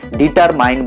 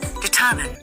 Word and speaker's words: determine: ডিটারমাইন বলবো না, কি বলবো? ডিটারমিন। ডিটারমাইন না বলে আমাদের বলতে হবে ডিটারমিন। ডু you want to গেট the proof? Here it ইজ। Determine.